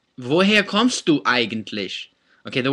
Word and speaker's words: woher: especially American speakers, because we want to read it as vo her or vo hair, right? But there is no r sound in German, so here it's vo heya, heya. Maybe I'd spell it like H-E-Y-A, heya, right? Heya, vo heya.